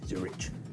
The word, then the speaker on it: Zurich: Zurich. Zurich.